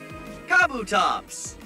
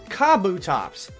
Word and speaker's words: Kabutops: Kabutops! Kabutops, not Kabutops.